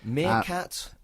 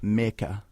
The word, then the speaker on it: Mirka: Artwork-wise, so it was Mirka Andolfo. That's the pronunciation I'm running with. Meerkat Andolfo? Mirka.